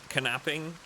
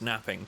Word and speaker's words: knapping: In my opinion, it's a soft K, not knapping. Napping? No, it was a joke, my friend. Don't worry. I was being sarcastic. It's pronounced napping, but I was just joking around.